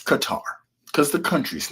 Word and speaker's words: Qatar: and she was like is it cutter or Qatar? Like they're confusing me on TV and I said it's Qatar. I said only silly people who follow others say cutter. It's Qatar cuz the country's name is Qatar.